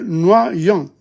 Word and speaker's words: noyau: Le noyau, le noyau, le noyau. The pit of a fruit. Le noyau. The I-U is O. O-Y is wa, noa, noyau.